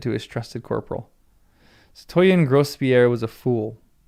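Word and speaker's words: citoyen: It's not Satoyen. It's Satoyen. It doesn't do me any good. Stress on the last syllable.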